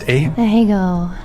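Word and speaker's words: Ahegao: What is how's it pronounced? Ahego.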